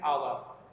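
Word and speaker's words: hour: অ্যান আওয়ার, এইচ লেটারটি এখানে silent রয়েছে।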